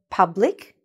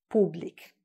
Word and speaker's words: public: Say public, not public.